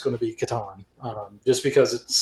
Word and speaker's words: Catan: The last game that I got completely obsessed with, board game style, was Settlers of Catan.